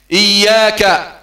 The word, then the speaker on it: إياك: إياك إي إي إظهار الهمز في حرف الألف، إي ما تقولش آ، إي يا مع تشديد الياء، إياك إياك إياك نعبد. كثير من إخواننا سمحهم الله يقرؤون إياك، لا هذا خطأ، إياك